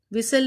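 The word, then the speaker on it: whistle: विसल, विसल में टी की sound नहीं आती, हमने लिखा कैसल।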